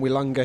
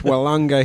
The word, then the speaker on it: Willunga: Yeah, your hip surgeon on Twitter pointed out that it's Willunga Hill, not Willunga. Thank you for that, Mr.